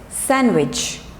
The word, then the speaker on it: sandwich: handsome boy okay next is sandwich no it's sandwich sam which nacho jo sandwich okay wednesday people